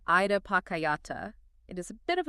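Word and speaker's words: idappaccayatā: We are unpacking a concept called ida pakayata. It is a bit of a mouthful pronounced ida pacayata.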